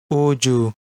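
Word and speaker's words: 우주: This is read as Oju, which means space, as in outer space that has galaxies, planets, stars, and heavenly bodies.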